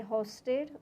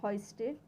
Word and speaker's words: hoisted: You can say hosted, or the correct pronunciation is hoisted.